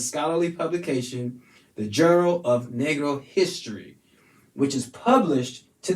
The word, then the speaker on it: negro: is spelled n-e-g-r-o negro negro uh it's a spanish word when translated to english means black and this is how it's said negro negro all right that's all